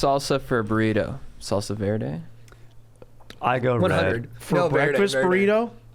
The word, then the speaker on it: verde: Well, I didn't want to say it verde. That's how you say it.